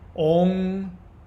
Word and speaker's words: Om: Om Kshraung Narasimhaya Nama. You're going to chant that 108 times. So, the M sound that you see when people chant Om, that's actually an NG sound.